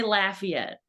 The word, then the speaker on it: Lafayette: that you're in in Louisiana oh we say Lafayette so it is named after the Marquee de Lafayette uh of Hamilton Fame played by digs in the I grew up in Lafayette New York so it's funny perfect there's also